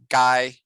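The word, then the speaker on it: ไก่: the word chicken is even though it's pronounced gai it looks like the vowel comes before the consonant and in tai they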